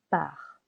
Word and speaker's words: pars: Je pars. Silent S. Je pars.